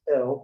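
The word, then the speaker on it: אל: Okay, sometimes we put a little letter across this, a little like a hyphen across that way, and this is pronounced El, but not El as in Elohim.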